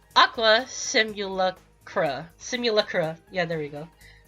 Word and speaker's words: Simulacra: Okay, I need to pronounce this correctly. Aqua Simulacra.